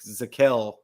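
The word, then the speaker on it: Zakelj: guy 187 we got nick zakel because i believe the jay is silent guard out of fordham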